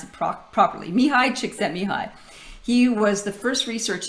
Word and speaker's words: Csikszentmihalyi: And I just learned how to pronounce it properly. Mihai Csikszentmihalyi.